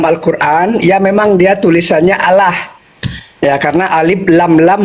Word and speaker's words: Allah: Kalau secara teks teks dalam Al-Qur'an ya memang dia tulisannya Allah ya karena alif lam lam ha Allah. Nah, tapi kalau cara membacanya dia ee seolah-olah A itu ee bersuara O. Jadi Allah bukan Allah.